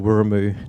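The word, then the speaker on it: Wiremu: And so the Maori pronunciation of that is Wi Neera, or Wiramu Neera.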